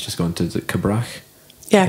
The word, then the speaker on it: Cabrach: People at North Uist, I'm not sure to pronounce the one that Ewan's just gone to. Is it Cabrach? Yeah, Cabrach.